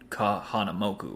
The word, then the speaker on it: Kahanamoku: to him about it he's like you mean Kahanamoku right and I was like oh that's how you pronounce it oh shoot you didn't